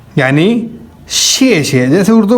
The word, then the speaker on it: 谢谢: देखना है यह देखें यह जो टोन है ना ये इसके ऊपर आएगी शे श वो न्यूट्रल हो जाएगा वहां पर हम टोन नहीं लगाएंगे और इसको प्रोनाउंस कैसे करेंगे शे शे अब दूसरे बंदे ने